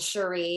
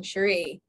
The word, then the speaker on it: Sheree: these people um and cherie is just like oh i said her name wrong sheree cherie yeah sure she is